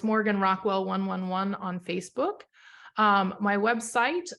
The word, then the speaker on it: Morgan Rockwell: And for those of you that are listening to just the audio right now, Morgan Rockwell is Morganrockwell. So it's spelled phonetically just how it sounds.